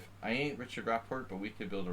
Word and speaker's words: Rapport: it's d6 yeah well if you pronounce it like rockport you know it sounds kind of english but rapport it's french thanks thanks masterbate for